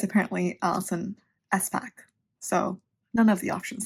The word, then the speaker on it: Espach: It's apparently Allison Espach.